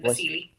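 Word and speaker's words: Wassily: It's with a W, but Vasily.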